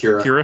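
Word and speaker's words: Qi'ra: When you're first introduced to Kira, however you pronounce her name. It's Kira.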